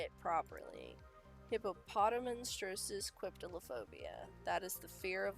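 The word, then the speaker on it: hippopotomonstrosesquippedaliophobia: Hippopotamonstrosis quiptilophobia.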